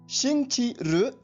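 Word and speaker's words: 星期日: इसको बोलने व लिखने का ढंग कुछ अलग है, तो आप पहले इसकी स्पेलिंग सुनिए, XINGQIRI। एक बार फिर सुनिए, XINGQIRI। अब इसका ध्वनिवादन सुनिए, शिंगची रु, शिंगची रु, शिंग ची र, इसका अर्थ होता है संडे यानी रविवार।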